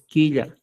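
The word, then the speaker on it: killa: oído en la pronunciación no es jilla es quilla y H Qué cosa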